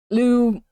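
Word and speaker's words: Lugh: And when I say Lou, I mean it's pronounced like this.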